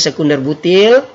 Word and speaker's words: sec-butyl: 9 kemudian ada isobutil sekunder butil tulisannya sec-butyl yang bacanya sekunder butil kemudian ada tersier-butil nah